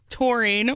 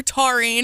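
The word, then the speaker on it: taurine: to them okay so the amino acid called torine or tarine I looked up the pronouncer and I saw both so I'm going with torine it is found in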